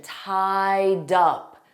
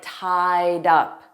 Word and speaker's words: tied up: And notice that pronunciation, tied up, dup. We're going to take that D sound from tied and we're going to put it on the preposition up. So it will sound like tied up.